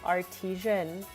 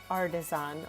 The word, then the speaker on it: artisan: Chad, remember the time I said artisian? when I was trying to figure out how to pronounce this word. But chat, I'm pretty sure I've been told it's artisan.